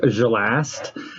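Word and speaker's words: Xalast: i am going to be playing um kenji gelast um his last name is spelled x-a-l-a-s-t like that everyone just calls him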